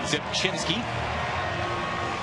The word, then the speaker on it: Zepchinski: Out of Yorba Linda, California, Zepchinski. The R is silent.